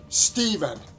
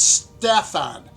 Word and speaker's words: Steven: All right, Steven, not Stefan. Pronounce the first E with a long E, a long E, a long E, and you'll come out.